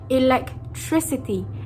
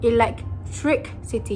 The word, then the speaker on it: electricity: It was supposed to be a smooth sailing electricity and not electric city. You are not supposed to take pauses in between.